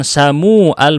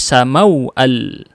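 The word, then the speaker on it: سموأل: Tetapi yang datang sebelumnya adalah mau al, bukan u, bukan samu al, bukan, tapi samau al.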